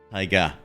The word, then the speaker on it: taiga: Let's do American pronunciation. Taiga. Shorter A.